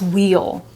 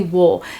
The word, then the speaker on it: we'll: But if you ask me, hey Stephanie, how do you pronounce this word? I'll say, oh, that's wheel. That's wheel. But ask me if I ever say wheel. No, I say wool.